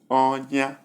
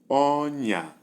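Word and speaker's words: ọnya: Number 1, high, high, which is onya, wound, wound. Number 2, we have high, low, and the pronunciation is onya, trap, onya.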